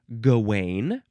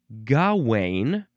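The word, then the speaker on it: Gawain: Next, we have gane or gain or gaw. three different ways. It is spelled capital G A W A I N.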